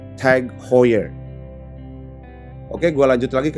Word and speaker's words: Tag Heuer: Gue sering dengar beberapa orang menyebutnya beda-beda. Ada yang bilang Tag Heuer, ada yang bilang Tag Heuer, ada juga sesimpel bilang Tag doang. Dan ternyata cara baca yang benar adalah Tag Heuer. Gue ulang, Tag Heuer.